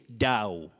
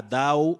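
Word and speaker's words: dhow: Now, for your words, you say Dow. D-H-O-W, Dow, a Dow. Don't say a thou or a thou. Dow.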